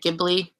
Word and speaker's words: Ghibli: Ghibli.